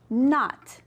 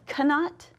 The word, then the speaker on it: knot: That's right, not. Do we say cannot? No. So the K is our silent letter.